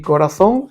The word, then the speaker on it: corazón: igual dentro de mi corazón corazón es palabra aguda por lo tanto sumaríamos